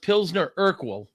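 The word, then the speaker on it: Pilsner Urquell: It's it's pronounced Pzner Urkwell and it is from Czechoslovakia.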